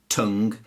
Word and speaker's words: tongue: I did there mmm-hmm words the end gue or L o gue in those cases the U is silent and it hardens the G so colleague lead tongue catalogue dialog analog and